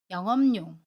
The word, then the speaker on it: 영업용: 그래서 꽃잎 이 됩니다 이번에는 받침 b 우빈 경우입니다 영업용 에서 어업용 을 볼게요 아침 빛과 모음 요가 맞나요 그러면 요를 요 로 발음 해요 그래서 영업용 이 됩니다 모음 요 외에 이은희 더해져서 요 로 발음 해요 그런데 여기에서 다시 받침 비약과 첫소리 자음 미 은 이 만납니다 그러면 b 을 미음으로 발음 해요 비음 와 입니다 그래서 영업용 이라고 발음 해요 갇힘 bub 2인을 만나서